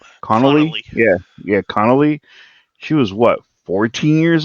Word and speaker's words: Connelly: How do you pronounce her last name? Connolly. Connolly. Yeah, yeah, Connolly.